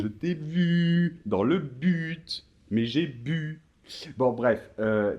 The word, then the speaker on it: but: Ouais, ça se finit en T et on prononce le T.